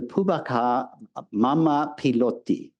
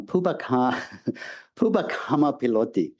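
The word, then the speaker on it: Pubbakammapiloti: An opposing view is found in the Pubaka Mama Piloti, a Pali work, I pronounced that wrong, Pubakama Piloti, a Pali work in verse placed somewhat incongruously in the Theravada.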